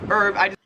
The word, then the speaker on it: herb: her or oh God herb herb in American English herb you just don't pronounce the h at all and in Australia in English it is Herb you do pronounce the h 38 is scone so